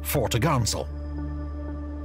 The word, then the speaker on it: fore topgallant sail: Her large square sails included the forecourse, fore topsail, pronounced topsail, and fore topgallant sail, pronounced foretogarnsel. On the main mast, the main course, main topsail, and main topgallant.